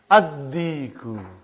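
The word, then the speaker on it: الديك: Ad-Diku. Why you did not pronounce Lam? Because it is sun letter.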